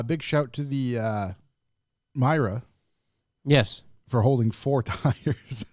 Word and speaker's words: Mira: i r a Mira even though it's spelled with an i pronounce it with a Y Myra Myra Myra Myra Mira